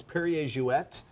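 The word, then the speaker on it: Perrier-Jouët: and as I said, it's Perrier Jouet, because it was Monsieur Perrier and Madame Jouet. She was from Holland, so it's a Dutch name.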